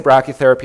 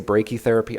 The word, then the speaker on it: brachytherapy: So just to talk a little bit about brachytherapy, it's I say brachytherapy, I think the Americans say brachytherapy. I believe either is right because I don't actually